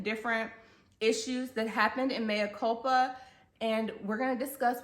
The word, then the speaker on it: Mea Culpa: Maya Cula but yet decided to name and pronounce the title Mia Copa and have the leading character's name be reflected